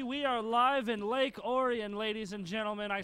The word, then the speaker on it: Orion: on Ont V we are live in Lake Orion ladies and gentlemen I said it right this time I I always wanted to call it Orion cuz it's about the same but it is